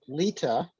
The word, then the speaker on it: Lita: My name's Lita. I know it doesn't look like it's pronounced that way, but it is actually the way you pronounce my last name.